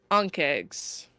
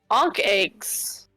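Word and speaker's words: ankheg: is enough these are ank eggs ank eggs an eggs I think I'm pronouncing that correctly a n k he e g yeah egg massive many-legged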